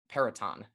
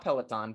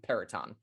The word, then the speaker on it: Peraton: live from Annapolis, the Military Bowl presented by Peraton, not Peloton, Peraton. Get it right.